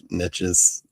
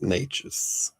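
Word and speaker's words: Neches: I kept saying niches, niches, or whatever. I forget how I was actually saying it, but yeah, it's naturous and okay.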